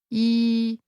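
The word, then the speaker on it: 二: lucky are the mathematical form of two yi as this is the same as the word meaning easy. Here, the only difference is in context as both are pronounced using a mid-level tone.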